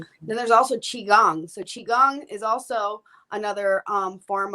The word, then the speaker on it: qigong: were talking about then there's also qigong so qigong is also another um form of basically energy work qigong uh i'll spell that for you quick it's q i space